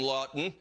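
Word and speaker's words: Laughton: he is available now you can have the last name lawton and not spell it the way that brian does l a u g h t o n i'm talking about scott lawton the flyers have had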